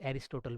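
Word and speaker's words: Aristotle: हिंदी में बोलते हैं तो अरस्तु बोलते हैं, और इंग्लिश में बोलते हैं तो इनके नाम को जो है प्रोनाउंस करते हैं तो हम लोग एरिस्टोटल बोलते हैं।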